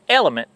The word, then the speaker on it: LMNT: for sponsoring today's video L MNT pronounced element is an electroly drink